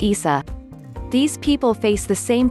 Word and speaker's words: Isa: In Arabic, the name is pronounced Isa.